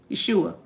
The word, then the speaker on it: Yeshua: crazy i'm i'm serious yeshua yeshua yeshua he said that's how you say it it's even it's even different than that but it's like it's like a sound i cannot utter but anyway but anyway